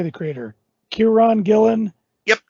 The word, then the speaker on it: Kieran Gillen: on oh how do you say the Creator Kiran Gillen yep Kieran Gillen Stephanie Haas the creative Duo behind image comic